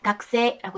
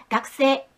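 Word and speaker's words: 学生: 이 글자를 일본어로 읽을 때 오쿠리가나가 있을 때는 마나부라고 읽고 학생같이 다른 글자와 함께 쓰였을 때는 각세라고 해서 가쿠라고 읽힙니다. 자, 외우세요. 각세, 마나부, 마나부.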